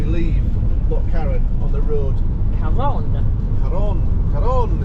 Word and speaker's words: Carron: So, I had to ask a guy how to pronounce it cuz it's Karen with a C and it's a double R. It's double R, which in Spanish is a R sound.